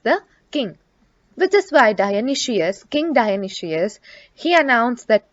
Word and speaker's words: Dionysius: their king dionysius so the pronunciation of this word is dionysius was an evil-minded ruler